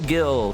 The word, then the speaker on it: Gil: I'm sure he's fine Gil's name is said like Jill because there are moments